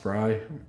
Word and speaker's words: Frey: last name really pronounced fry i think it's pronounced fry but it's spelled frey right fr i don't